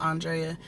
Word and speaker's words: Andrea: so um nickname drea obviously my name is pronounced andrea i'm 23 year old 23 year old 23